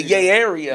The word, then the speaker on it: Yay Area: in your heart right you say it wrong it's the yay yay the yay yay the Yay Area huh sound like a